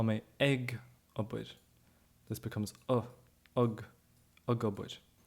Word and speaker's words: ag: It can be pronounced as egg when you're using it as a normal preposition, right? So if you're using it with another noun, you're saying eg shoppe at the shop. Then you get it as egg. But when you're using it in this ing context, I am working, I am doing, I am saying, it's pronounced with a schwa, so you get tá mé gobid.